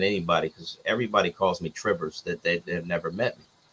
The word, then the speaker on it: Trivers: I never get mad at anybody because everybody calls me Trivers that they've never met me, but it's Trivers with a long I. There you go. Yeah. Trivers.